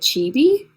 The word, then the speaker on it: chibi: Little Chibi little chibi oh that's how you say it chibi how have you been